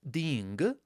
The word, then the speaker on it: ding: Make sure here that you pronounce all the components of this syllable. So it's di n g or ta n g, or otherwise you will quickly get lost, I speak from experience.